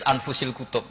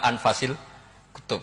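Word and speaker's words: أنفس الكتب: Di sini ditulis anfusil kutub. Selalu saya baca anfasil kutub karena maknanya kitab terbaik. Kalau kitab terbaik bacanya bukan anfus tapi apa? Anfas.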